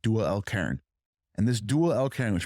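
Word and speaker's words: Dhul-Qarnayn: And the two-horned one, it's Dual al-Qarn. That's how you say it in Arabic, Dual al-Qarn.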